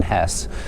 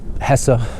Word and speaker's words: Hesse: Damian um by Herman Hess um or Hessa I've heard it pronounced both ways um I don't like pronouncing the E so I'm going to say Hess but um um I